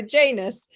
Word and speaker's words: Janus: So you pronounce it I'm going to say the Janice Oasis podcast, and I was saying, is it the Janus? And but for you, it's the Janice Oasis podcast.